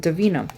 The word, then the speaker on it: Devinah: I don't know why, but I think on their Instagram it says Devinah. Like, we pronounce it Devinah.